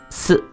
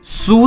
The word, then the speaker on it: す: 要的哈，因为很多同学会直接去把它读成一个苏的一个发音啊，千万不